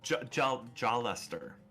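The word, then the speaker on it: Jaleser: I love about this book it gives me pronunciations of their names yeah oh yeah so jaw Lester John Lester Silverman very nice guy he's very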